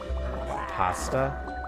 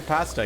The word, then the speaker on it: pasta: Pasta. Pasta. What's wrong with the way I say pasta? Yeah, I don't know. Oh, that's just how it's pronounced, isn't it? Pasta. Pasta. Long a, not short a.